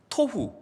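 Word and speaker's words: תֹהוּ: 또 공허라는 말은 히브리어로 보후인데요, 토후, 보후, 마치 라임을 맞춘 것처럼 발음이 비슷하죠.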